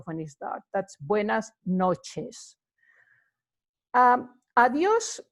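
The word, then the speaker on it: adiós: start that's buenas noches adduce is like goodbye you can say it any time of the day when you are you know taking your leaf of somebody and you know is again you see the accent in the oh so that indicates that there's you know an emphasis placed on the oh sure you say adios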